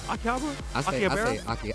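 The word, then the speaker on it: 秋葉原: Akihabara?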